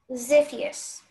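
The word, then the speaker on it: Xiphias: Ziphius. Am I pronouncing it correctly? That sounds right. Ziphius.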